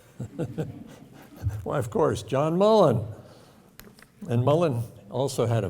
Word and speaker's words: Mullan: His name rhymes with sullen and begins with M. Why, of course, John Mullan.